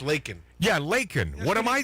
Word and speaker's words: Laken: No, L-A-K-E-N. But it's pronounced Laken.